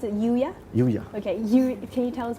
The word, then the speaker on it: UYA: Yuya. Okay, can you tell us more about it? Right. Actually, Yuya comes from these two Chinese characters.